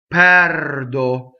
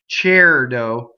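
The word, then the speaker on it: perdo: So here's our first open E, right? Now, what do we do with open E if we're Americans, right? We tend to make it rhyme with chair. Like, think about if you said chairdo, pɛrdo, right? We do that when we have an R. It's pɛrdo.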